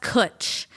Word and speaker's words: cwtch: it's pronounced kutch, and it's a British word.